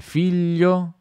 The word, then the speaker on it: figlio: due iscriviamo vecchio vecchi vecchi che una il figlio i figli ok quali non si pronuncia non si dice il figlio no sì